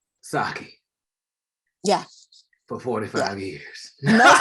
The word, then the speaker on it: sake: They were like, "Look, it is sake. It is not sake. We're tired of you people saying that it's sake. It's sake."